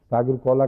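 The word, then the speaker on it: সাগর কলা: کہتے ہیں ساگر کولا، یعنی ساگر کولا، کیلا ایک ہے اس کی قسم، اس کو بنگالی تلفظ میں ساگر کولا کہتے ہیں.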